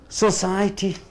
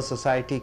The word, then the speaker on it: society: Society is a noun. How do you pronounce whenever society comes? The second syllable should be stressed. Society.